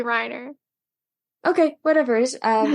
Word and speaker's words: Reiner: when I watch it I hear Reina but I think it's it's probably Reiner okay whatever it is